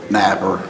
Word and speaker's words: Napier: State of Ohio versus Napier, or Napper, case number CRV 25177. You pronounce it Napier or Napper? Napper.